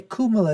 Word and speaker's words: Kamala: Oh, by the way, Kamala is a way that you do pronounce it in Hindi, I am told by some of my Indian friends.